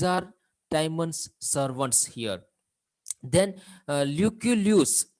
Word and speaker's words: Lucullus: Then Lucullus, very particular pronunciation, Lucullus, you can also say Lucullus, let's say Lucullus.